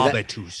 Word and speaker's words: habitus: Habitus. It's like habit, right? Just hear the word habit. Habitus.